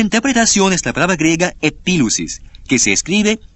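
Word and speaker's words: epilusis: interpretación la palabra interpretación es la palabra griega epil usis que se escribe e p i l u s i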